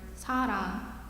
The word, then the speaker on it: 사랑: Combined together, the first syllable block is pronounced sa. As for the second syllable block, it is a combination of a consonant R, vowel A, and another consonant NG to finish off the wrong sound.